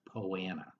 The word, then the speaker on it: Poa annua: Poa annua is the technical name of the weed, but you will often hear it pronounced as poana.